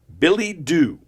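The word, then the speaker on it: billet-doux: It's spelled B I L L E T D O U X. Billy Doo.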